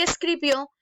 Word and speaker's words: escribió: el acento en la y escribió vemos que el la sílaba tónica se encuentra en la última sílaba por lo tanto es